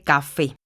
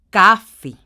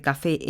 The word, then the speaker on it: café: tónica de las palabras si la palabra café tiene la sílaba tónica en fe dice café si la tiene en la cea diría café en lugar de café entonces vemos qué es café por lo tanto la sílaba tónica está en la última sílaba lo que quiere decir